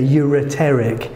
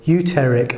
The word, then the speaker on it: ureteric: Just make sure you get all those syllables in there, ureteric. Because if you miss one out, it becomes uterer, uteric.